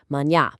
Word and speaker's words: manhã: And step three, manhã. Okay, that last step, absolutely crucial. Manhã actually translates to morning, and it's got this distinct, beautifully nasal sound right at the tail end, manhã.